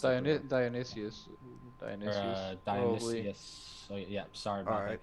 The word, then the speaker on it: Dionysus: Dionysos. Is that how you pronounce it? Dionysius.